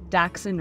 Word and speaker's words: dachshund: Dachshund racing.